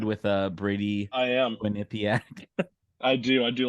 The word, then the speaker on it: Quinnipiac: first thing that pops up to me is Quinnipiac Quinnipiac is that how you say it oh yeah